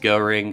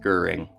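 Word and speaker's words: Göring: It's not pronounced Goring, it's pronounced Goering, so heads up, sorry about that.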